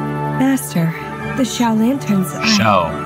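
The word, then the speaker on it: Xiao: Shao. That's how you pronounce it.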